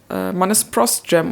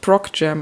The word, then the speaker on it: Procjam: I think you pronounce it "Pross-jam" and not "Prok-jam" because it derived from "procedural generation". That makes more sense.